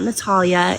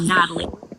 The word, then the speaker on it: Natalie: Well, first things first, my name is not Natalia. It's exactly how it's spelled. Natalie.